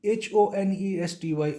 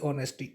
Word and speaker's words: honesty: honesty, honesty. H is skipped, H is silent.